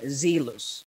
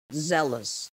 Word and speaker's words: zealous: is vineyard vineyard next zealous zealous not zealous okay it's not zealous it's zealous zealous seventh cocoa cocoa not